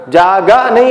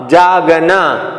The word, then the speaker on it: जागना: जैसे जाग, जागा नहीं बोलते ना इसको, जाग प्लस ना, जागना, इन्हें जागाना नहीं बोलेंगे, इसको जागना।